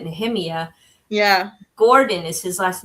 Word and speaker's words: Nehemiah: And Nehemiah Gordon, it looks like Nehemiah, but he pronounces it Nehemiah.